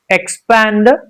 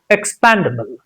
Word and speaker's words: expandable: Expandable. Expandable. Expandable. Not panda. Expander. Expandable. Expandable. Can you say that? expandable. Not expandable.